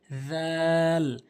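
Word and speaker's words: ذ: একদম নরম করে উচ্চারণের নিয়ম হচ্ছে জিহ্বার আগাটা জিহ্বার আগাটা সামনে দুটি দাঁতের আগাতে লাগাবেন। দাল দাল এই সার মতো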